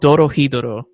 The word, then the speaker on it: Dorohedoro: show is weird it's called doro hiduro uh dodo so it without pronouncing like my like uh my a weeb